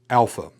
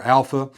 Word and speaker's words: alpha: If you will come down around just as that that is the first letter alpha. It is pronounced as we would pronounce the a in father. So it is an a sound.